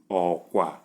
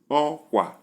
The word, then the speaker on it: okwa: Number 2, we have low, low, which is pronounced as okwa. Okwa, where a type of bird, okwa.